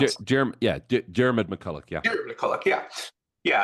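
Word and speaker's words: Diarmaid MacCulloch: Is that how I would pronounce it? Diarmuid MacCulloch, yeah.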